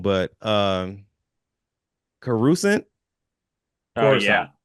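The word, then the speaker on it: Coruscant: Yeah, I would have done something like um forgive me if you if I'm pronouncing it wrong, but um Carusent Corissant. Corusant.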